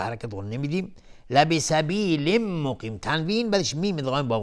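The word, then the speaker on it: مقيم: لبسبیل مقیم، تنوین بعدش میم ادغام با غنه. مقیم، قاف از حروف استعلاست غلیظ تلفظ میشه.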